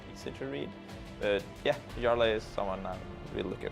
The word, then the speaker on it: Jarla: not only is he Swedish, where J's are pronounced as Y's, but he also he said Jarla.